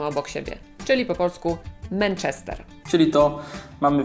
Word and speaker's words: Manchester: Arena Manchester czy Manchester Manchester tak mówią Brytyjczycy i ta pierwsza sam jest dokładnie pomiędzy polskim a a e Dlatego my musimy się zdecydować czy będziemy mówić przez A czy przez e po polsku i ja proponuję mówić przez e Manchester dlatego że następna samogłoska w tym słowie to też e i lepiej brzmi Jeżeli mamy dwie takie